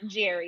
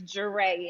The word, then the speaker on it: Jere: It's not Jerry, it's Jere.